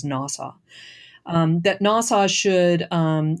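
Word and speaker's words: NAWSA: American women suffrage association which people pronounce as nasau um that nasau should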